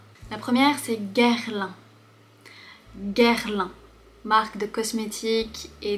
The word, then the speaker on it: Guerlain: Tu vois, ici, on voit le G suivi du U. Et par conséquent, ça fait le son G. Guerlain. Guerlain. La difficulté, ça peut être le R suivi du L.